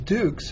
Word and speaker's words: Dux: with me even though my name is dukes and pronounced Dukes it is it is spelled duux which means the inscription